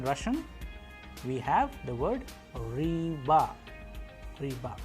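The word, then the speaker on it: рыба: B, but in Russian we have the word riba, riba. How do we pronounce it? Riba, uy. That is why it is a vowel, that is why the stress is falling onto it, and the pronunciation is ruiba, which means fish in Russian.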